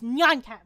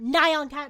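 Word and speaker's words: nyan cat: the way it's not nonon cat it's not neon cat it's neon cat okay that's how you say a cat meow in Japanese it's neonat thank you that was a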